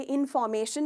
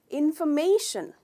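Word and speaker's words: information: हम कहते हैं इनफॉर्मेशन, पर ये इनफॉर्मेशन नहीं है, इसका करेक्ट प्रोनाउंसिएशन है इंफॉर्मेशन, इंफॉर्मेशन। तो फॉर नहीं है, फ है, इनफॉर्मेशन। और हम मे पे स्ट्रेस करते हैं, तो ट्राई कीजिए मेरे साथ, इंफॉर्मेशन, इंफॉर्मेशन, राइट।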